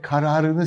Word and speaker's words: kararı: Burada zararı, yararı ve kararını size cümle içerisinde geldiğinde uygulayın diye yazmışım. Hatırlayın ne demiştim? Alfabemizin, ABC'mizin son iki harfiyle başlayan yararı ve zararı kısa okunur, K ile başlayan kararı uzun okunur demiştim.